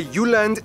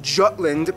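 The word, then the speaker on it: Jylland: full disclaimer ignore wikipedia i'm gonna pronounce the location names in their proper danish context so here we go denmark is made of the uland not jutland peninsula that connects to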